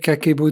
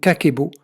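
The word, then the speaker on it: kakeibo: Alors Kakebo, ça s'écrit de deux manières, de deux façons. Donc K-A-K-E-I-B-O, mais il y a aussi, donc quand on enlève le I, donc Kakebo. Hein, vous pouvez voir ici, Kakebo en français.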